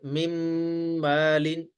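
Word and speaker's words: مِن مَّالٍ: हो गया है जैसे मिम मालीन ये एक मीम है ये दरमियान वाला जो नून है ये साइलेंट हो जाता है ठीक है मीम को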